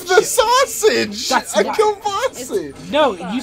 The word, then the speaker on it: kielbasa: Well, technically, it's like kielbasa.